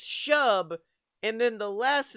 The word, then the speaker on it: Shub: Okay, Chub? it's Shub, and then the last name is spelled Niggurath, and I'm not gonna say that.